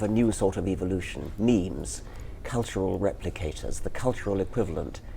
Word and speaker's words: meme: natural selection going so i called it a meme so it doesn't exactly rhyme with gene but it's sort of sort of short and and sounds vaguely similar and how did you